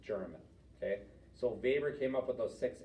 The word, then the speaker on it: Weber: understand those again that's Max Weber but it's spelled with a W for his last name because it's German okay so Baber came up with those six elements of a